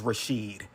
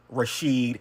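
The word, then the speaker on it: Rishid: His name is Rashid. R I S H I D. Rashid.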